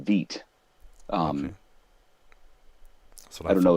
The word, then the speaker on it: Vite: for michael bourne but it's pronounced veet um so i don't